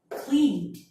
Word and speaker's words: cleaned: So if you have the verb that ends with L, V, N, B, and all of the vowel, you have to pronounce it like D. So repeat what I say. Smelled, saved, cleaned, rubbed, like that.